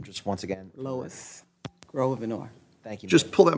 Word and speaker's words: Grosvenor: Grosvenor, would you pronounce it for me, please, your last name? Grosvenor?